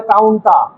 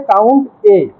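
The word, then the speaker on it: COUNTA: অনেকে বলে কাউন্টটা। কিন্তু অরিজিনাল উচ্চারণ হবে কাউন্ট এ।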